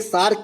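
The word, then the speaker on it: SAARC: इस प्रकार से सार्क लिखते हैं, मछली वाला सार्क नहीं। ये एब्रीविएशन का हम जो है डायरेक्ट उच्चारण कर देते हैं, जिसे हम सार्क बोलते हैं।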